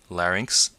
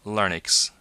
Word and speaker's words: larynx: luckily not very frequently you pronce ounce these larynx and FNX please do not ever pronounce this larx and even worse this fix there's not a